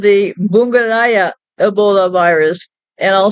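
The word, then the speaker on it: Bundibugyo: This outbreak is caused by this thing called the bungallaya Ebola virus. And I'll spell that.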